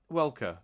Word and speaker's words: Welker: different welcome or Frank Weller I never knew how to pronounce this guy's name let me find it Frank weather isn't it is it Welker no it is welcome yeah with a k um so Frank Welker